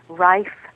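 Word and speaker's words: Rife: that website is www rif handbook. comom and that's r i f as in Frank E rhymes with life R handbook.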